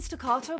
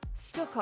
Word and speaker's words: stucco: Oh, I've been saying staccato my whole life. Stucco.